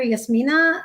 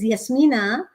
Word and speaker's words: Yasmeena: The other thing is, my daughter Yasmina.